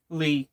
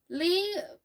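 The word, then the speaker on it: Leigh: I'm still very uncertain of how to say the first name of the author. Lee. Is it Lee? It's Lee. It is definite.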